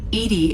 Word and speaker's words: EDI: why are you named Edie Edie is the phonetic pronunciation of EDI that is an acronym for enhanced defense intelligence the position where are